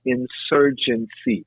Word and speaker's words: insurgency: I want to introduce a word called insurgency. It almost seems like emergency, Hmm. but it starts with IN.